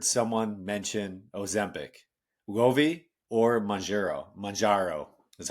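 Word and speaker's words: Mounjaro: Majaro is how you say it.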